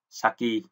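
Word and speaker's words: 先: Thế âm ông Yomi của chữ tiên thì chúng ta là sen, và âm cưng thì chúng ta đọc là saki.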